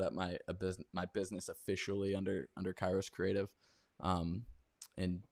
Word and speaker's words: Kairos: you started or were approached by, is it Kairos Creative? Oh Is that yeah, how you pronounce Kairos.